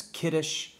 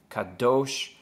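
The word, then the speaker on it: קדוש: Cobb Doge for instance that one word can be pronounced a number of different ways for instance kiddush Kadosh Kadosh ah there's just a number of different ways that you can pronounce that those same three letters because there's a lack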